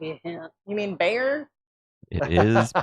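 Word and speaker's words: Bexar: You mean bear? It is pronounced bear.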